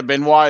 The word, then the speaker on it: Benoit: Yeah, Benoit is the French pronunciation of it.